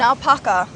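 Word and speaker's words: naupaka: here and how do you say it again napaka napaka and the root systems actually hold the soil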